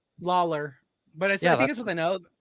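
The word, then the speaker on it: Lawlor: and spell it wrong is it Tom lawyer or Tom Lawler Lawler but yeah I think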